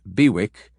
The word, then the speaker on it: BWIC: took over the portfolios and liquidated them bwic pronounced bewick came into common use an acronym for bid